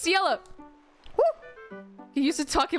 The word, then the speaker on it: Ciela: No, it's Ciela.